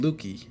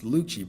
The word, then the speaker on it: Lucci: Keep saying Lucky. It's Lucci, bro.